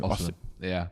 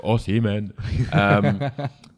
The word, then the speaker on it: Osimhen: because I don't think you'll get, I can't pronounce his name. Osimhen. Osimhen. Yeah, Osimhen. Yeah. Okay, I always go Osimhen.